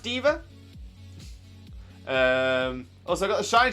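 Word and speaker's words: D.Va: by girl at the minute uh and yes pronounced diva she's actually a super high profile professional gamer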